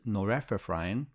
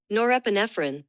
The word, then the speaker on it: norepinephrine: we start playing is because our body releases noreprine noreprine I don't know how to pronounce know this word word but it's here noreprine norepinephrine and dopamine which is a much easier word to Okay.